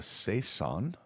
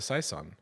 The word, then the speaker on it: Saison: think oh it's a Saison oh okay but it translates to season so yes say son oh that sounds like season when you say it like